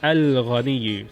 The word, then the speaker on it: الغني: Ghain is a moon letter because you pronounce the Al, the definite article lam.